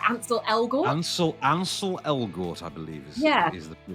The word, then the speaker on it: Ansel Elgort: Ansel Elgort, I believe, is the pronunciation, yes.